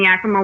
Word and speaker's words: Yakima: we partner with Yakima Chief Hops up in Yakima, Washington.